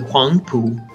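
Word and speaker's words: Huangpu: was called wah wah and that's a dialect I mean that's how it was written originally but it's actually Wang poo they in Mandarin I finally found out how to say it in Mandarin and so one pool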